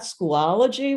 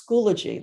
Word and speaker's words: Schoology: schoology so it's not schoology where i've i've heard it said that way it's schoology like biology schoology um it is